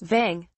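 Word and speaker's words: वं: Mantra, repeat the mantra, VAM, which is pronounced as VANG.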